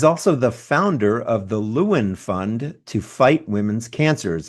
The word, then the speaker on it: Lewin: It's the wordthe and then luen and that's spelled l e w i n.